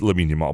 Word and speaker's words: Lamine Yamal: It's Lamine Yamal.